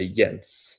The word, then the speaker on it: Jens: Is it Yens or Jensen? Uh Yens.